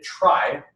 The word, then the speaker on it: trie: might check out is super interesting is a try and it's spelled kind of funny it's tr-5 year and